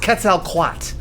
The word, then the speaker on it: Quetzalcoatl: It's pronounced Quetzalcoatl.